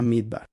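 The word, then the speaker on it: מדבר: Se pronuncia exactamente así a Midbar.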